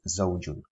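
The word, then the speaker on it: زوج: And it's an easy one in English language when we have the word zip, the Z in zip, for example. Zip, zip. In Arabic, zawjun, zawjun.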